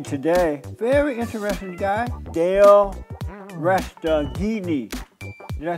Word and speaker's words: Resteghini: I have with me today, very interesting guy, Dale Resteghini.